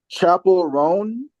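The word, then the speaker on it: Chappell Roan: think it's I want to make sure I'm pronouncing her name right chapel rone chapel oh yeah yeah yeah Chapel rone uh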